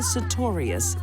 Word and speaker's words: Sartorius: I think the best thing to be learned here is never marry a woman whose last name rhymes with notorious.